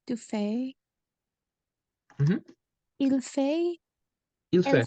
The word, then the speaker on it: fait: So you can see here that we don't hear the S, we don't hear the T. So it's basically the same pronunciation as in every person, even though the spelling is different.